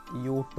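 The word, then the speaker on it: Jot: പിന്നെ ഇവിടെ ശ്രദ്ധിക്കണം, ജെക്ക് ജെ എന്നല്ല പറയാം, ഇവിടെ യോട്ട് എന്നാണ് പറയാം ജെയുടെ കാര്യത്തിൽ. അത് ശരിക്കും ശ്രദ്ധിക്കാട്ടോ.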